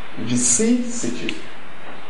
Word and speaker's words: vicissitude: The pronunciation of The word in question 3 is vicissitude. Vicissitude. Vicissitude. Now, if it is vicissitude, where is the stress? The stress, therefore, falls on which of the syllables? The stress falls on second syllable, vicissitude.